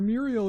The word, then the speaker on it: Muirgheal: Oh, that's how you pronounce her name, Muriel.